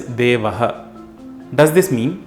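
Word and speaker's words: देवः: The Sanskrit word for it is Devaha.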